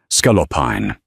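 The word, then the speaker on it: scaloppine: I believe the dish is pronounced scalopine and it's quite delicious.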